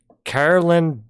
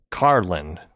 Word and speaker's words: Carlin: just a warm up carolyn borishanko i'm saying this wrong it's not carolyn it's a it's an easy mistake to make it's carlin carlin borishenko i think she